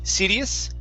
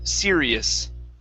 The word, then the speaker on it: serious: three words okay okay instead of cd sidious give me a good r seer serious serious uh huh good one